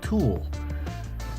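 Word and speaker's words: tulle: not that's not mashes it's called tool and I was like tool and she said like yet it's spelled tu l le tool and I said well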